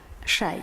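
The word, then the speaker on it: شيء: árabes emplearon la palabra shay, que se translitera, yo no sé árabe, pero se translitera en los textos medievales y renacentistas como XAY. Shay, se pronunciaría shay en esta época.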